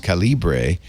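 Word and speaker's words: Calibre: you two things one the reason I say sometimes calibra is because if you said caliber that's in the US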